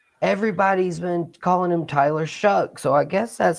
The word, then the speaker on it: Shough: Where is the C and the K in that name to make it Shuck, like corn?